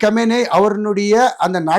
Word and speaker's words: Khamenei: நிறைய பேர் வந்து கொமேனி கொமேனி சொன்னது தவறு. அயோத்துல்லா கொமேனி வந்து 1979 இஸ்லாமிய புரட்சி ஏற்பட்டு 83ல ஒரு உயிர் இழந்த பிறகு இவர் அலி கமேனி அப்படி சொல்வதுதான் சரியான உச்சரிப்பு பல இந்திய தொலைக்காட்சி உள்ள